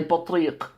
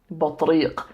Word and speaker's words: بطريق: A penguin is a بطريق. بطريق. Spelled with ta, ba, ta, ra, ya, and qaf. بطريق.